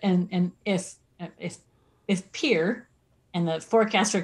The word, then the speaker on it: Pierre: our state capital is it's pronounced around here pier it's pierre i mean